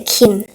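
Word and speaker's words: 김: And this is an M. Put it together, it's a Kim. So we have our famous Kim brothers. Kim Seok-jin, which we learned just now, Jin. Kim Tae-hyung. And Kim Nam-jun.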